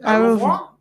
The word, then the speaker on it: au revoir: Yes, Au revoir.